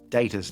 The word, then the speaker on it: Data: Data's name ended up being pronounced the way Patrick Stewart pronounced his name, a British pronunciation, which ended up cementing